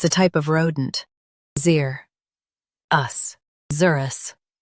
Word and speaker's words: xerus: Zer us Zerus Stress zer and keep us light.